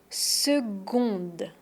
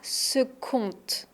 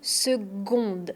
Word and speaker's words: seconde: On dit une minute et on dit une seconde. Et pas seconde. Une seconde. C'est le son gu même s'il y a un c, on ne prononce pas que, on prononce gu une seconde.